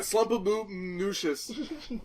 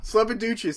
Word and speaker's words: Slumpaducious: Listen, say slump. Slump. Okay, now say Duchess. Duchess. Now say Slumpaducious.